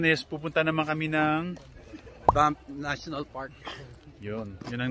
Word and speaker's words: Banff: Yeah, tama yung pronounce mo? Banff.